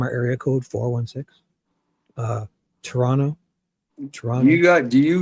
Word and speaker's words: Toronto: Shibby, we got to teach Damen how to say Toronto with a silent T. Toronto.